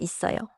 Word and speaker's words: 있어요: I see, 있어요. but I keep hearing something like, 있어요. am I hearing it wrong? 좋은 질문이에요. 있어요 is spelled 있어요. But in natural speech, it links and sounds like 있어요.